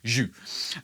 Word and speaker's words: Zhú: Pronounced, I'm reliably told by the guys that it's spelled Zhu, or pronounced Zhu. So think posh French gravy, Zhu.